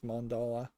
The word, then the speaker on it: mandala: looking at the mandala I think it's mandala that's how you pronounce it um patterns these